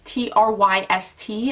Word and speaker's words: Tryst: But Tryst, T-R-Y-S-T, I think that's how you say it, Tryst, was one of my favorite.